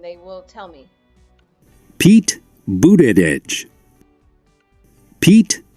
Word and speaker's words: Buttigieg: And here on Pronounce That VOA News, if I'm not sure how to pronounce his name correctly, I can actually go here and they will tell me. Pete Buttigieg. Pete Buttigieg.